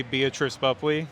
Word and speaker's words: Beatrice Boepple: Raleigh North Carolina with the one and only beatric buley how are you I'm great and you pronounced my name right you must have done